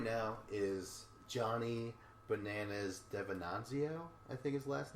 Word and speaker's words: DeVenanzio: So right now is Johnny Bananas Devenanzio, I think his last name is. Sure. I'll accept that pronunciation because that's the correct one.